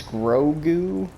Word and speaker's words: Grogu: uh i keep saying it wrong but it's grogu right yeah grogu kind of a funny name